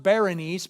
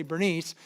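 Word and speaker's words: Berenice: her name is Bernice it's pronounced Baroness but it's easier just to say Bernice he arranges to have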